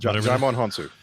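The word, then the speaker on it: Djimon Hounsou: Daimon Hansu.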